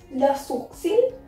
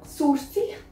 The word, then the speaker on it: sourcil: It's quite a typical word. You need to understand that how to pronounce it. That is le sourcil. We will not pronounce L here. L is silent. That is sour.